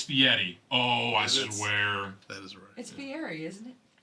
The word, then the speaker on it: Fieri: It's Fieri, isn't it? Fieri. That's how it's pronounced. It's spelled Fieri, Guy Ferrari. but it's Fieri. That's how you say it.